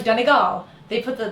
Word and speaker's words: Donegal: yes no it's like danal they put the they put the the emphasis on the third syllable which is really hard to do um or Donal um